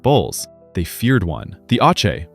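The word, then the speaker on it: Aatxe: The Ache, pronounced Aache, is a spirit from Basque mythology whose name literally means young bull.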